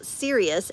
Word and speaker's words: Sirius: And it's isn't it interesting how serious s I r i u s sounds like the word serious like don't take life too seriously you know serious.